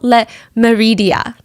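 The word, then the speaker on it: Le Méridien: It's called Hotel Le Meridien. I'm trying to pronounce it in the French way.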